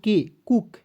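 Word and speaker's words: cook: तो सी का क, डबल ओ से बड़ा ऊ की मात्रा, के का क, कुक।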